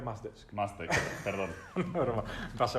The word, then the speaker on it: Mushdesk: Roberto, ¿qué es Muzdesk? Lo primero es que se pronuncia Mazdesk.